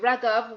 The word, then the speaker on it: Raghav: really exciting episode so with no further ado wrecker welcome to the size of success with job